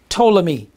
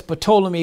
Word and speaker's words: Ptolemy: lysimachus Seleucus which and ptolemy says patola me but the P is silent don't know why is